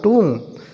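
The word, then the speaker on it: tomb: बोलेंगे हम ऐसे ही टी ओ एम बी इसे बोलेंगे तुम सिर्फ तुम बोलेंगे तो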